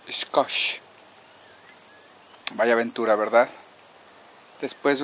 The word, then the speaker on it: Xcoch: vamos de regreso Bye finalmente descubrí que la pronunciación correcta es scos vaya Aventura verdad después